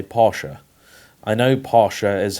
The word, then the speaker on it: Porsche: up here in short Porsche is basically how most people in the UK say it very few people here say Porsha I know Porsche is